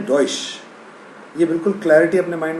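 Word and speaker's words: Deutsch: है डच और ड डॉश की स्पेलिंग है डी ई यू टी सी H Germany की लैंग्वेज को डॉश कहा जाता है कभी कभी वैसे जर्मन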